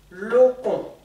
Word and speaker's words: lokon: Pour demander ça, on le dit, en langue atchan, on dit lokon. Je vous ai mis un accent tonique sur le O, du premier O, parce que il faut accentuer ce O là.